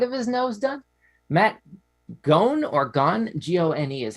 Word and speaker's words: Gone: Matt Gone, or Gone, G-O-N-E is how it's spelled, holds a Guinness World Record for the